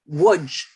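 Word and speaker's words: Łódź: And I'm going to boast my knowledge, Lodz is pronounced Wodz, correct?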